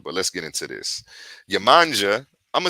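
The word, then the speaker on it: Yemoja: let's get into this yamanja i'ma say yamaya yamoshi okay in yaruba they pronounce it yamosha there are many different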